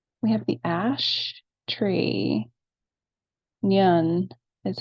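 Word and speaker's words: Nion: Nyun is how you pronounce that.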